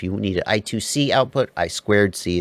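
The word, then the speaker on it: I²C: Sometimes you can, if you need an I2C output, I squared C is the right way to say it, I know.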